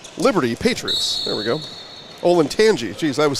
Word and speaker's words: Olentangy: ol and Tangi Liberty Patriots there we go ol and Tangi geez I was saying it wrong the whole